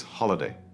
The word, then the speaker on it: holiday: Next is holiday. Open your mouth for the O sound, holiday.